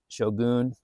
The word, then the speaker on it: shogun: I guess that's his right as the author, but it's pronounced Shogun.